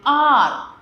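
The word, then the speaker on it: heir: For example N आर H silent है बच्चों। यहां पर हम इसे आर बोलते हैं।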